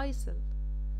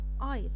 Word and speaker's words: isle: هتلاحظوا عندي ان حرف الاس silent، انا ما قلتش بقى ايسل، لا ايل. وانا عايزاكم كلكم تنطقوا معايا دلوقتي علشان القاعده تثبت في دماغكم. ايل الاس برضو كانت silent ليه؟